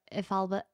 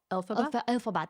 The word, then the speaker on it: Elphaba: I think I got the context for Ifalba. How do you say her name? Elphaba? Elphaba.